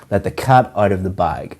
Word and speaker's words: let the cat out of the bag: The pronunciation of this is to stress or emphasize cat and bag. Let the cat out of the bag.